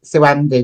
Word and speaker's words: SuAndi: I mean, I used to say my name's SuAndi, not Randy, not Handy, not Bandy, you know, because people kind of took the mickey out of it.